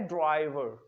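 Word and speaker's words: driver: तो इसकी तस्वीर फरमा लीजिएगा, ये वर्ड है ड्राइवर। आर, इसमें लास्ट आर जो है वो साइलेंट करना है।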